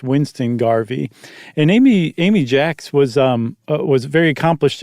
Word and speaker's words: Jacques: that was he married Amy Jax, spelled like Jacques, um who was a